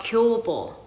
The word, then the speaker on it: Kyobo: By the way, the biggest bookstore in Korea, it's right in the middle of Seoul, and it is called Kyobo, okay? It's spelled K-Y-O-B-O, K-Y-O-B-O.